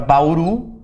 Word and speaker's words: Bauru: Então as palavras na língua portuguesa podem ser oxítonas quando a última sílaba é tônica, por exemplo, a palavra Bauru. A sílaba tônica é uru, oxítona.